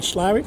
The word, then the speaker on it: Slaithwaite: time to move on i've been here in slavic for just over a week yes i know